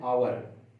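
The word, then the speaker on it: hour: कैसे किया गया है, देखिए आवर, इसका जब प्रोनाउंसिएशन करते हैं अपन, तो इसको क्या कहते हैं, आवर, ठीक है। तो आ क्या है, स्वर है, इसलिए एन आर्टिकल आएगा। यदि यहां पर इसका प्रोनाउंसिएशन में व्यंजन यानी कॉन्सोनेंट आता, तो यहां पर ए का यूज करते हैं, ठीक है।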